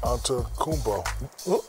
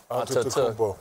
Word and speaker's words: Antetokounmpo: Well, Giannis Antetokounmpo. Is that correct? You forgot a syllable right in the middle. Antetokounmpo.